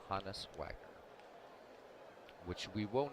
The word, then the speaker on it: Honus: is hotness Wagner not Honus Wagner it's honest after his German first name Johannes so just a little